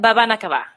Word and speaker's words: Babanakava: But you do say it Babanakava.